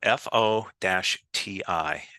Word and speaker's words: FOTI: It's spelled F-O-T-I, F-O-T-I, and it's pronounced FOTI.